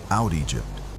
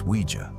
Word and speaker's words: Ouija: Out Egypt. My brother laughed. That's not how you say it. It's Ouija.